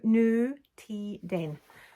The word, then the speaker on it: Nutiden: that was in a new teedin new teedin my sister lives in norway and she sent me a little message to say this is how you say it nu nu ti den um so in the